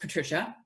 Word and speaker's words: Patrizia: I'm Patrizia, pronounced Patricia.